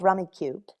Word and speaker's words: Rummikub: i'm playing is called rummy cube rummy how do you spell it uh that would be r-u-m-m-i-k-u-b k-u-b like cub so rummy cub phonetically yes interestingly for a